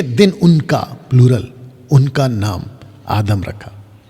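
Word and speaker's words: אדם: उनका प्लूरल, उनका नाम आदम रखा। तो पुरुष का नाम भी आदम, स्त्री का नाम भी आदम। और आदम का सही प्रोनाउंसिएशन है आदाम। आदाम, आदाम का मतलब होता है आदमी, मैन, MAN, मैन।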